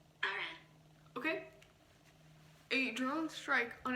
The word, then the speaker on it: Iran: A drone strike in an Iran, how do you say it? In American English. Iran.